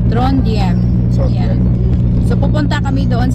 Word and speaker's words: Trondheim: What the pronunciation? Trondheim.